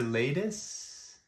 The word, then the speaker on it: Laedis: you in person um am I pronouncing it right Mr latus lus is good um however uh that's